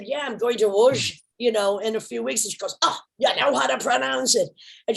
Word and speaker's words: Łódź: And I said, yeah, I'm going to Łódź, in a few weeks. And she goes, oh, you know how to pronounce it.